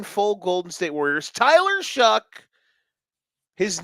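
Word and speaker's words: Shough: Tyler Shuck. His name is Shuck. Sounds like duck. Uh uh. Rhymes with duck cluck or buck.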